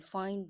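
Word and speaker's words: في: This is another Arabic word ending in ya, but here I pronounce ya as e. The reason is the letter preceding ya is carrying kasra.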